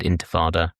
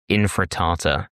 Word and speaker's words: intifada: London's institutionally racist Metropolitan Police Force have started arresting people for even using the word intifada, or infratata, as Britain's know-nothing politicians pronounce it.